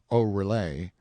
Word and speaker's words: Oreille: Patrick Oreille, pronounced O'Relay, Miss Bridget, pronounced Briget O'Relay, Mrs.